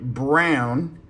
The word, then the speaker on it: Braun: Christian Brown. Spelled Braun, but actually pronounced Brown, which I found out during the finals.